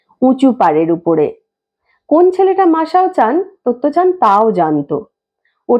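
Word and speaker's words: マサオ: মনে হতো যেন মহিলা সব সময় ওর ছেলেকে খুঁজছেন, মাসো চান, মাসো চান বলে। কিন্তু জাপানি ভাষায় উচ্চারণটা হওয়া উচিত ছিল মাসাও চান।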